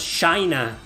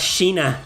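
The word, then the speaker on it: Shaina: She is pronounced as Shina. You know her as Shina in English. We know her as Sheena here.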